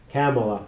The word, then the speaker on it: Kamala: Kamala, I have to pronounce Kamala.